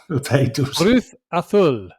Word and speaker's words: Cruz Azul: Cruz Azul in the Mexican Liga. Great. Carry on. What, do you want to do better? That's actually how you pronounce it.